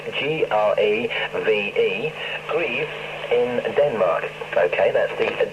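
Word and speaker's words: Greve: and that's 31 stroke dk 2670 and i'll spell that for you it's g-r-e-v-e grieve in denmark okay that's the danish shortwave news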